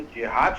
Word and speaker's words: जहद: है कि ये जो जिहाद शब्द है उसका शाब्दिक अर्थ होता है संघर्ष करना जी ये अरबी का शब्द है जिसका शुद्ध उच्चारण होता है जहद आपने देखा होगा कि